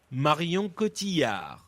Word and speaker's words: Marion Cotillard: Punch in the correct pronunciation. Marion Cotillard.